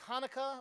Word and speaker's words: Hanukkah: One of them is Hanukkah or Chanukah, but it's Hanukkah. You don't pronounce the ch.